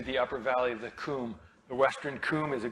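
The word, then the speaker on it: Cwm: The reason it's called the Coombe is because open valley in Welsh is spelled C-W-M. The Brits who got to name this evidently had a little respect for the Welsh and named it after a Welsh word.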